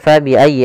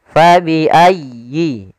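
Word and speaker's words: فبأي: tukadziban pada lafal fabiayi Nah di sini sempurnakan diasydid huruf ya Jangan fabiayi ala tapi dia sempurnakan fabiayyi ayyi ya kita ulang kembali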